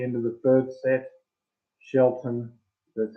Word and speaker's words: Shelton: Shelton, that's how you say his name.